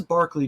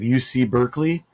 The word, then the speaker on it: Berkeley: how like we have UC Berkeley it's actually named after this guy right here Berkeley it just pronounced differently so in actuality it's